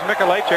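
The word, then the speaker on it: Mikolajczyk: It is Mikulacek. The spelling, though, is M-I-K-O-L-A-J-C-Z-Y-K. Spell it 17-7.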